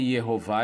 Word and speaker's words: Yehová: século XIV, século XV, todos eles falando que o nome de Deus era pronunciado com Sheva Rolan Kamatz, E-O-A.